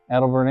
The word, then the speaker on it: Adelbert: by the name of adelbert Ames or Delbert Ames depending on how you pronounce it was on that